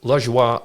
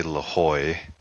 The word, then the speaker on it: Lajoie: Oh, the Americans like to say Lajoie. The Germans do as well. The French, of course, say it like you did, like Lajoie. If I said it in my home country, it was Lajoie.